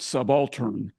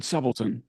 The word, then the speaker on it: subaltern: Force rank of subon so he pronounces it subaltern and he's corrected subon and so that reminded